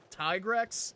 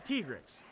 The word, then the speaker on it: Tigrex: I don't really care what the in-game says anyway, because they said Tigrex, and I hate that. It's Tigrex. Japanese pronunciation.